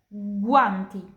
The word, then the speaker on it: guanti: G più U, guanti, sarung tangan. G più H, spaghetti. Jadi pronunciasinya kayak G di bahasa Indo, ganteng.